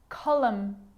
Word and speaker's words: column: a song that you sing in church him column column that's it the letter p can